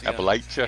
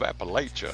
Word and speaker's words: Appalachia: West Virginia and down we even to pronounce it right. So that's Appalachia. Yeah, I love when these national sports guys go deep in the heart of Appalachia. Yeah. So, Cowboy, it's Appalachia. Get it right. I cringe every time.